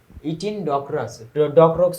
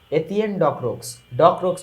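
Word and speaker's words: Étienne Decroux: Partha to call the opportunities to learn from mister ইটিন ডকরক্স হওয়ার কথা, ইটিন ডকরক্স, চলো দেখে আসি আসল অর্থটা কি হবে বা আসল উচ্চারণটা কি হবে। এই যে এতিয়েন ডকরক্স ঠিক আছে, ইথিনটা আসলে আমরা ইংরেজিতে বলি, ওইটা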